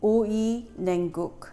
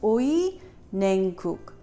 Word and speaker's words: 오이냉국: Now before we begin, I want to phonetically teach you how to say 오이냉국. 오이 means cucumbers. 냉 means cold, guk means soup. So it's 오이냉국.